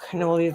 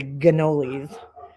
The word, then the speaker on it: cannoli: As my mom would say, gannolis. I don't know what it is. I think it's like a Brooklyn thing where they pronounce all the C's like G's. So instead of cannoli, you got gannoli.